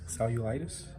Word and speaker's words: cellulitis: they diagnosed her with Sally you old itis cellulitis that's how you say it it's a common